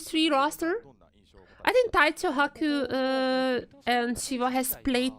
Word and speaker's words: Haku: well Haku play the next as well and Haku it's it's pronounced Haku as like a eight and n japanes pronounced